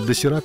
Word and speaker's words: Доширак: Значит, будем жрать теперь досирак, а не доширак, потому что по-корейски досираком называется эта хрень. А к нам ее привезли с буквой «Ш», потому что досирак в России вряд ли бы ели.